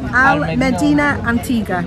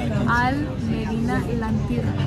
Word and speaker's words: Al Medina El Antigua: Okay, I'm saying it completely wrong. Go on, Jessica. Al Medina El Antigua. There you go. So the reason I couldn't say it properly is because it's Valenciana and not... the royal family Spanish.